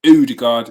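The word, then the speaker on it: Ødegaard: runnerson uh most martin odergaard udegard as it is pronounced i'm told um he's unavailable for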